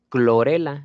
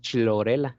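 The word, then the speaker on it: Chlorella: Clorela, no decimos chlorela, ¿no? Clorela, clorela tal cual.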